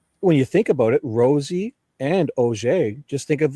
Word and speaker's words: Rozzi: So first of all, before I go any further, Rosie's like the rose.